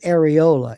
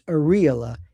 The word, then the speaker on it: areola: You might pronounce it areola. It's areola and that's not the nipple.